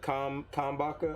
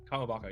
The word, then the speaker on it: Kamabaka: I'm not gonna lie, I need that broadcast to be rerouted through the Kambaka. How do you say it? Kamabaka, yeah.